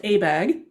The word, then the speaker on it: ABAG: the association of bay area governments and its pronounced abag and one of abeg's responsibilities to develop a